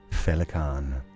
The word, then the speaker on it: Féileacán: How to pronounce your name? Féileacán.